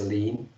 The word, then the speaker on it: Lin: That is, allow me to correct that. Tse-min Lee is actually his name is Shuangmu Lin, as Lin, yes, to be more appropriate pronounced to be Lin.